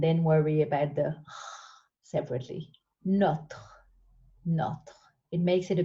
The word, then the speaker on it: notre: Notre can be tricky to say, so I always tell my students to put the t with the first syllable, not, and then worry about the separately. Notre.